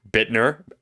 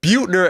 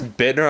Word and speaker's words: Bittner: She's changed her IG profile where it says Bittner, pronounced in parentheses, Bittner. Because we're like, hey, Jessica Butner, and she's like, it's Bittner.